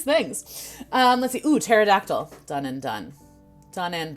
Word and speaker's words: pterodactyl: know what i forgot pterodactyl starts with a p there's a silent p at the beginning of pterodactyl and you know okay